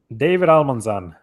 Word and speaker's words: David Almanzan: new york all right okay so sorry i butchered your name there uh can you say it for us tell us your name david almanzan all right so so the reason i found